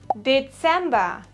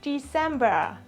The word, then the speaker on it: Dezember: It is Dezember and not December.